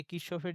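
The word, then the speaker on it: Kirchhoff: মানে লোকটার নাম অ্যাকচুয়ালি কারশফ। সো তোদের বইয়ে আবার এটার ওই ইংলিশ বানানটা, ইংলিশের মধ্যেই কারশফ বানানটা লিখতে গিয়ে KIR এরকম বানানটা, হ্যাঁ? আই মিন পুরা বানানটা যদি লিখি, লোকটার নামের বানান এরকম। সো এইখানে আ কারশফ অ্যাকচুয়ালি উচ্চারণটা, সো বইয়ে কিরশফ লেখা আছে। সো এখন কিরশফ হিসেবেই পড়া লাগবে আরকি।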